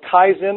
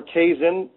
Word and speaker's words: kaizen: to taught me the principle of Kaizen or Kaizen you can pronounce different ways which is a japanese